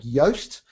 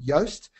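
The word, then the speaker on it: Yoast: can use tools like yast that's spelled like toast but the first letter is a y for yellow yast and as you're doing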